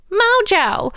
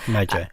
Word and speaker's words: mojo: because I feel like there's the very super Anglo way of doing it and calling it mojo. Mojo, yeah. And then there's like, you know, the Spanish way.